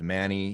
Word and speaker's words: Mani: arose from this uh this guy named manny he was uh armani you could pronounce his name different ways i think it's manies or something but the point is